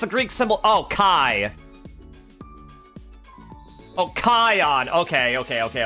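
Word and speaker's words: chi: Yeah, the also the Greek letter Kai, which apparently Kingdom Hearts pronounces like key because puns or something, which always drives me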